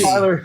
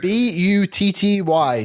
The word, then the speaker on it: butty: It's Okay, it's pronounced with T's though, not D's. Butty. B-U-T-T-Y.